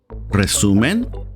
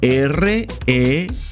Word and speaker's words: resumen: E-N space espacio R-E-S-U-M-E-N. En resumen. If you find it hard to pronounce the R like R, you can also say resumen, a bit softer.